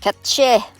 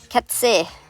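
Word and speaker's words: cat sìth: It's native to Irish and Scottish lore, pronounced ketche in Irish and Scottish, and ketse in Irish.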